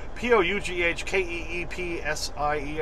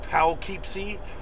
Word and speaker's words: Poughkeepsie: Poughkeepsie uh New York even though it's spelled p-o-u-g-h-k-e-e-p-s-i-e I think that would be pal keepsey but of course up here they say Poughkeepsie Poughkeepsie uh so I'm picking